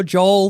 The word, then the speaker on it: J.O.(A).E.L.: a e l yeah the a is silent and much smaller but it is on the sign yeah it's on the